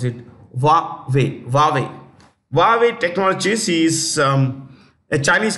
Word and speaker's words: Huawei: s-u-n sun next Huawei Technologies that's how you pronounce it wave Technologies is um a Chinese company many countries